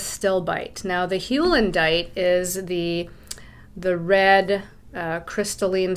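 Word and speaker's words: heulandite: here is called halendite i'm going to try to pronounce it correctly hulendite it's hewlandite with still bite now the hulendite is the the red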